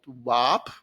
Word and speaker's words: WAAP: for me to pronounce, if I have to pronounce WAAP because it sounds like the WAF itself. And I found that a bit simple solution for that. I call it W-A-A-P so that everyone gets a clear idea of what I'm talking about.